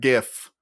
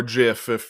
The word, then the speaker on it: GIF: As well as a neat sort of GIF or GIF if you're a degenerate who pronounces it that way.